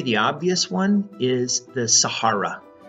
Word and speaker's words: Sahara: I'm going to say Sahara here, although Sahara is the most common pronunciation. Sahara is a desert, and Sahara would be probably a little closer to how people would say that name in Africa.